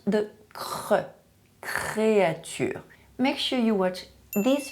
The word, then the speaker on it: créature: struggle to pronounce the créature. Make sure you watch this video where I explain to you how to pronounce the French R sound correctly, especially when it is in a consonant cluster, such as ciar, créature.